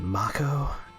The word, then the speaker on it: Mako: bridge in front of it although apparently they pronounce it Mach oh and the voiceover for the new remake I always called it Mako as a child's Sam face Rises ex-soldier huh